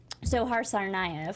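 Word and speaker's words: Dzhokhar Tsarnaev: now it's official that how we pronounce his name sohar tsarnaev thank you has just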